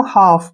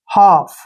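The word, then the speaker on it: half: है यह रियल है एफ से पहले एल आए तो एल हमेशा साइलेंट होता है मतलब एल का उच्चारण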